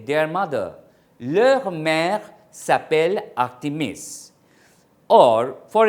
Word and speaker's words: leurs: Like, nos parents, our parents, vos professeurs, your professors, leur chien, Here, this pronunciation remains the same, L-E-U-R-S, leur, but leur chien becomes, leur chien in plural becomes their dogs.